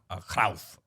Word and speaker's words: Cruyff: I'm just going to let the if anybody's read Johan Cruyff's autobiography, it is Johan Cruyff. As he's pronounced.